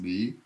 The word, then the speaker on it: 离: It's pronounced li.